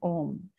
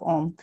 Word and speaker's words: Om: through the sound of Om. And Om, we should remember that we use as A-U-M instead of Om, which is commonly, pronounced.